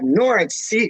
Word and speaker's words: Norwich: for norwich norwich uh norah c is pronounced no the y the w silence so like the w speak my language excuse my language but yeah forget the w it's like when i